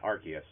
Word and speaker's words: Arceus: are coming november 19th and uh pokemon legends arceus is that how you say it yeah arceus okay is january 28 2022 so we have